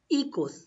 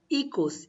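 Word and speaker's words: hijos: echoes means children echoes h is silent so you will say ecos equals so children is called ecos in spanish ecos so how will you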